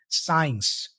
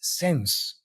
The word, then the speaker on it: since: certain words for example I think you said science I've been studying English science September 2023 it's since okay since September 2023 and also some little